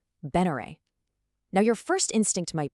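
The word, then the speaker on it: Benere: It's not spelled v e n e r e. It's spelled b e n e r e. Beneray.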